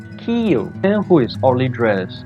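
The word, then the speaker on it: Kyiv: kyo-ahn tanita April 2006 I learned the pronunciation this time ok many cannot pronounce key you key you and who is only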